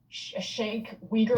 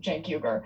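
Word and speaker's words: Cenk Uygur: It's not Shank Weaguer or whatever it is that he said. His opening line is literally, "Welcome to the Young Turks. I'm your host Jank Huger."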